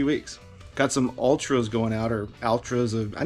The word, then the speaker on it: Altra: Sold a pair of Ultras, and I actually looked it up. That's how you pronounce it, Ultra.